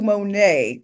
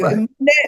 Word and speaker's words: Monét: Monae, people be like Monet.